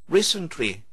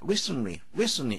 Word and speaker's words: recently: 근데 상당히 많은 경우에 N 다음에 T는 잘 발음되지 않습니다.